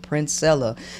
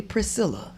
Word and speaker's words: Princella: using the discount code princella now make sure when you use the discount code you pronounce and spell my name right because it ain't gonna work if you're calling me Priscilla okay because that ain't